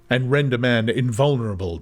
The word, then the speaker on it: invulnerable: frame and render man invulnerable to any but a violent death. It's always a question whenever I get to invulnerable whether I'm going to pronounce the L or not.